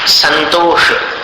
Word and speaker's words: संतोष: संतोष न के समान है।